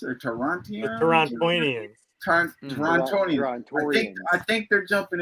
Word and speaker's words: Torontonians: Which, by the way, I think I think Unworthy pronounced it right. The Torontians or Torontians. Torontonians.